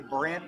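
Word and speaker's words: Brandt: 1 and 2 to Brant with a silent D.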